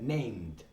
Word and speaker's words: named: you hear that the wunderkind said named named it's so important that little sound at the end of the word ok it sounds ridiculous